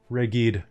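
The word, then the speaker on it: Reghed: grip hunters looks like uh like that is pronounced reggie'd the reggie tribes people and uh what did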